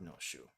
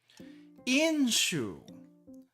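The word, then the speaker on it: 飲酒: It's not no shu. Inshu. Inshu. Okay, so we have the kanji for drink over here. Normally that's no, but in this case.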